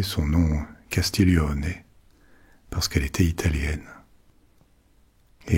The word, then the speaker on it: Castiglione: Je dis Castiglion à la française, mais il faudrait plutôt prononcer son nom Castillon parce qu'elle était italienne et elle a reçu